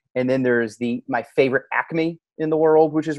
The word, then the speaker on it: Acme: My favorite Acme. Pronounced Acme.